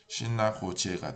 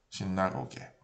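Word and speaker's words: sinagoghe: 요 아카를 빼면 발음이 어떻게 되냐면 신나고제가 돼요. 신나고제. 원래 단수는 신나고가였는데 발음이 틀려지기 때문에 그에서 제로 바뀌죠. 그래서 즈르. 그래서 이게 같아지게 하기 위해서 아카를 넣으면 그대로 그 발음이 남습니다. 신나고가, 신나고게.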